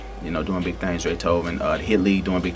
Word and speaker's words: Drathoven: That's DRATHOVEN. Pronounced like Beethoven, but it's Dre Tobin.